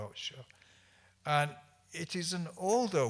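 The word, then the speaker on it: 士: pronounced shi, S-H-I, and the Chinese would pronounce this shur, S-H-I-H, shur.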